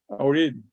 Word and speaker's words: already: Already. Already. D. Already. D. D. Yeah. Already. Yeah, 3 syllables.